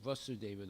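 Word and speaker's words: Vāsudeva: a short a it's vasudeva the father when it's a long a it's vasudeva the son of rasra Deva so it says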